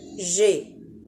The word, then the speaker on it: j'ai: Alors, on a supprimé le E pour laisser j'ai.